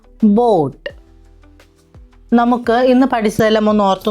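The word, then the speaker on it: Boot: 2 ഓ വരുമ്പോൾ അതിനെ ഓ എന്ന് വേണം ഉച്ചരിക്കാൻ. ഹോം എന്നതിൻ്റെ ഉച്ചാരണം പോലെ. ഉദാഹരണം ബോട്ട്.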